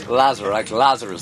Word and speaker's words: Lazarus: Pronounce the first name for me. Lazarus, the Bible guy. Lazarus.